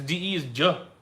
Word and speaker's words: de: Because DE is J. Ah. Like Rio de Janeiro. I love the energy from you guys. Shout out to Julia Beatrice. Beatrice. Thanks, Julia. I've seen her in the comments many times. Karaoke speak like frying an egg. Oosh. Karaoke speak like frying an egg. Oh, that's funny. Oh, da is the same as da in English. DA, you don't change. D becomes DJ only before I and E.